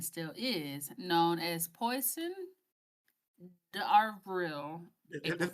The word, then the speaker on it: d'Avril: In France and surrounding areas, the day was, and still is, known as Poisson d'Avril. That's pronounced poison.